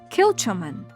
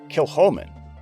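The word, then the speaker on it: Kilchoman: Professor, this distillery is pronounced, “KILL-cha-men.”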